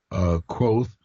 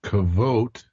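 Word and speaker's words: Kvothe: So, well, we've been talking about Coat or Quoth as we're pronouncing it. I've also been told he's called Kavote, Hmm. but whichever. The audiobook pronounce it quoth, but that's all right.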